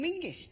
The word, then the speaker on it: Menzies: In fact, you should pronounce it John Mingus, apparently. It's to do with a defunct Scottish letter Zog.